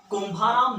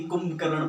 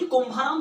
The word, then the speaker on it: कुंभाराम: मैं जी हाँ सही बोलूंगा क्योंकि एक प्रसिद्ध नेता है, उन्होंने इनका नाम गलत प्रोनाउंस कर दिया था। हाँ, मैं बात कर रहा हूँ राहुल गांधी की, जिन्होंने चौधरी कुंभकर्ण परियोजना ऐसा कुछ बोला था।